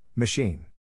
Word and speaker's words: machine: Phonetic Alphabet to pronounce machine have in mind that the size of the syllable indicates where the accent or stress is in this case the accent is in the second syllable corresponding to Sheen below are other ways